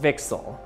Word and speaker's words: VCSEL: cavity surface emitting lasers abbreviated vcsel or pronounced vixel now in order to